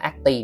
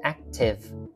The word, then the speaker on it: active: Đây cái đuôi này cũng hay đọc là active, no, active.